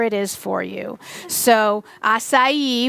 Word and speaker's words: acai: is for you so acai which is not a chi is a superfood because